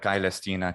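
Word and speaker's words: Caelestina: so forth so um spelling it without the a is a non-standard but very common way that the diphthong i was rendered as just an a because they weren't pronouncing it i anymore but kai lestina celestina with an ae is what would be more standard um if it were standard latin spelling but a non-standard medieval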